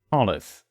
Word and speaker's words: Solace: So the A becomes an I, but it's pronounced E. Solace. No, not E. It's the weird E, not the strong. It's the, what do you call it? I'm not sure. Like mid.